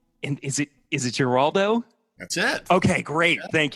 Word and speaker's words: Giraldo: the show Neil and is it is it jaldo that's it okay great thank you I was so worried I was gonna mispronounce it you got that right Peter I